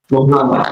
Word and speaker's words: Muhammad: know what's going on how do you say your name Muhammad mhamad yeah Muhammad the most famous name